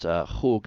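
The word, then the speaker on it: חוג: Now, this word chug, it's pronounced chug, not chug, but I just transliterated it there for you.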